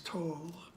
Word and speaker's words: Tolle: such as Eckhart Tolle, however you want to pronounce that. I think the correct is Tolle.